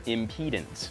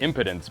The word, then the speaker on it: impedance: is the resistance or impedance I used to pronounce that impotence but that sounds like a completely different kind of problem impedance is measured in ohms